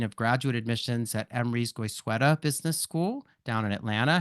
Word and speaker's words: Goizueta: We're also going to hear today from Melissa Rap who's the associate dean of graduate admissions at Emry's Guysa Business School down in Atlanta.